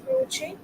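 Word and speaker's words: Croce: uh there was one critic called croch the pronunciation is croch and he has also given theories of expressionism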